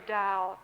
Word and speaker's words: Tao: And my third example is really from Taoism, the notion of the Tao, T-A-O, although it's pronounced as though it's D-O-W.